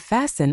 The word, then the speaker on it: fasten: The rule here is simple. Drop the T. Listen and fasten are the big ones.